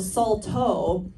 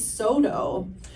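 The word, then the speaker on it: Saulteaux: e a u x I'm surprised he didn't pronounce the X at the end um so I thought my tribe was Salto my whole life and then I did a show with another Salto woman and she was like what did you just call yourself Salto no that's our French pronunciation it's SoDo and I was like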